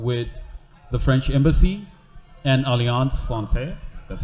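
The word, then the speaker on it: Alliance Française: in collaboration um with the French Embassy and alance Fon that's how you pronounce it we we so there's going to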